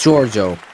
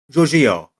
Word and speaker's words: Giorgio: It's Giio. Like George with an O at the end. Um, so Giorgio.